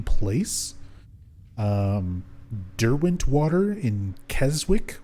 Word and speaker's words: Keswick: um derwent water in keswick or kessick i think it's supposed to be pronounced but it's spelled like keswick but yeah the